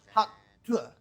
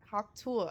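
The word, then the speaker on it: Hawk Tuah: Bad vibes, bad vibes, bad vibes, bad vibes, No, you're not saying it right. Hot tour. Hot tour. That's hawk tour, like hawk tour.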